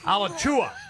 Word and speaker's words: Alachua: He said, hey, listen, such practices violates Florida law and the policies of the I can't pronounce the name of this thing. I wrote it down too. Alachua.